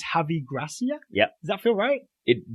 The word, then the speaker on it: Javi Gracia: how to pronounce his name I think it's heavy grass yeah yeah that's alright it doesn't but yes that's what it is I kept mistyping it as he Garcia yeah javi Gracia is the coach of Watford he took over